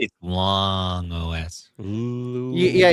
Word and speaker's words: Loong: I don't know if it's long or lung OS, but long OS. Ooh. Yeah, you got to say it like you have to say where it's long.